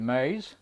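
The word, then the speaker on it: Meyes: talk about here my name is Mays that's spelled m-e-y-e-s talking to you from Houston Texas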